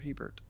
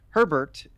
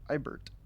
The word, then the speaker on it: Hebert: And it's kind of always a big misconception that Herbert is Hebert. That's the writer of Dune. His name is Herbert. Hebert, or in French, Ibert, is spelled and pronounced differently.